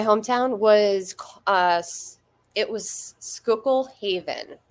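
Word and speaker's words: Schuylkill Haven: was uh it was skookul Haven which is it's spelled really weird like s hu y l k i l l Haven yeah but it's near Pottsville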